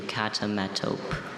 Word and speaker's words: catametope: Catametope. Catametope. Repeat the pronunciation, please.